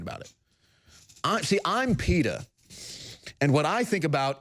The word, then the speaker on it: PETA: activist group I'm called PETA rhymes with speedo because I think about